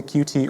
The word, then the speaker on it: Qt: itself, we're built using the Qt or Qt framework. Going forward, I'm going to say Qt because I've been doing so for more than a decade, but both pronunciations are completely valid and fine.